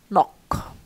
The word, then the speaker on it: knock: okay uh for example knock how about the NK this cluster n the it disappear disappear so they um used